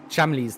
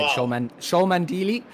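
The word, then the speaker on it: Cholmondeley: you how to say Chamley's name as well, which for months I was calling it Sholmandili, and I felt quite embarrassed when his supporters came in and told us how to say it.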